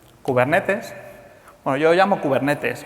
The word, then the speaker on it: Kubernetes: la gente anglosajona dice kuber netis o cosas parecidas pero viene del griego Así que debe ser muy parecida como lo he pronunciado kubernetes es un proyecto